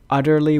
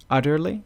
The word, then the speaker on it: utterly: on words utterly because utterly with a t utter utterly we pronounce It in America like with a d utterly it can it